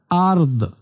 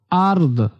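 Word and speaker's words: أرض: ওয়ামাফিল আরদ এখানে দেখেন আর লাস্টে দটা হালকা উচ্চারণ হবে অর্থাৎ আরদ আরদ এমন ওয়ামাফিল আরদ ওয়ামাফিল আরদ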